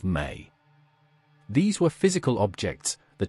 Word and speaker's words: me: The Sumerianss described objects called the mi, spelled me, pronounced as may.